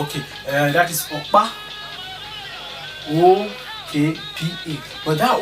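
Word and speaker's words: Ọkpa: Okpa is spelled O-K-P-A. Not just OKP, not just OKPA, but in that O, there is something under it. Look at it, you will see. You can't just say OKPA.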